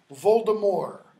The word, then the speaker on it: Voldemort: names no she doesn't Lord Voldemort or if you want to pronounce it according to French Baltimore all right but both